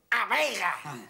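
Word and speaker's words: A Veiga: Que no se dice Vegadeo, dice A Vega.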